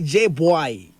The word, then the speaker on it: JBwai: find i don't know am i pronouncing right when i say j boy you see you are you are 100 right i thought you are